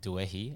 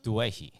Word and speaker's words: Doueihi: So I was saying, like, when I looked at how the surname's spelled, I would have said Doueihi, and then you were saying, yeah, that's how the Aussies would pronounce it, but the correct pronunciation is more like Doueihi.